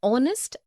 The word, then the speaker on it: honest: also an air an honest an hour because the words air honest and our begin with the vowel sound as the initial consonant h is not pronounced article 1 we use